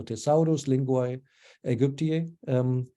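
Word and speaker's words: Thesaurus Linguae Aegyptiae: The Thesaurus Linguae Egyptii, okay, I'm just not pronouncing it Latin, not English, so Thesaurus Linguae Egyptii, this one's your friend.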